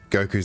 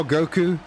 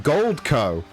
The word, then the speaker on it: Goku: Last time we saw Goku, we had that announcer that kept getting everyone's name wrong and kept calling him Goldco.